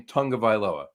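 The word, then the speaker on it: Tagovailoa: figure out they print everybody's pronouncing his name tungavailoa where's the n in in I I get yeah but it's Loa tongue you're thinking of it in terms of American English and I think you have to look at the Hawaiian pronunciation yeah Polynesian pronunciation something along those lines gotcha but either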